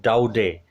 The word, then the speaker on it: Daudet: is written by Alphonse Daudet. T is silent. Alphonse Daudet, a very renowned, prolific short story writer here, and got it, a very renowned short story writer, novelist.